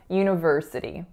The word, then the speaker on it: university: So in terms of its pronunciation, there are quite a few syllables. So we have u, so that's a y going into a tense moving u sound. The second syllable is n, schwa, na, na. So it's not uni, it's una.